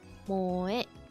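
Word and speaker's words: 萌え: Also used to refer to the culture of entertainment centered around characters who possess such traits, pronounced moe.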